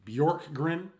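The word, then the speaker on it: Bjorkgren: is how you pronounce it BJ o r k g r n bork grin um he's been an assistant with Nick nurse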